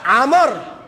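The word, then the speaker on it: عمرو: আবার উমর আর আমর বেশ কম আছে লিখতে, উমর ওয়া নাই লেখার সময় আইন মিম র, আমরের ভিতরে আইন মিম র ওয়া, ওয়াটা উচ্চারণ হয় না, গোপন থাকে।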